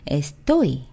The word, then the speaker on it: estoy: 자, 첫 번째 1인칭 에스토이 보면은요, Y로 끝났어요. Y로 끝났으면 어때요? 맨 뒤에서 첫 번째 모음을 올려줘야 되면은 Y 앞에 있는 O를 올려주면 되겠죠? 그래서 제가 에스토이 이렇게 읽은 거예요.